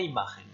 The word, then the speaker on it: imagen: ¿Cuál es la impresión que deja la imagen? Quelle est l'impression que laisse l'image? Alors attention, à l'oral à bien prononcer le N de imagen, beaucoup d'élèves oublient.